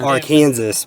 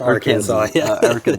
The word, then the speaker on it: Arkansas: and then ah Arkansas some people might call it Aransas but it's Arkansas Aransas good people good